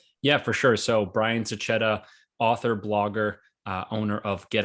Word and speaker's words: Sachetta: It was one of those, don't say it this way, say it this way. So it's Sachetta, but no hard feelings.